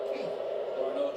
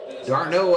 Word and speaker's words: d'Arnaud: Darno just missed one. D'Arnaud, I guess is the way you say his name.